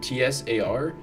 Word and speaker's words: Tsar: Yeah, isn't it like T-S-A-R in Russian or something like that? Oh, in Russian, it's a single sound.